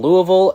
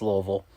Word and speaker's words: Louisville: florida state and louisville god you say it wrong it's louisville lewisville north carolina continues their